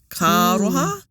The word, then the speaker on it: Kāroha: And also, this has only probably clicked to me within recent times, how you pronounce the words and you roll the R's into each other. Kāroha.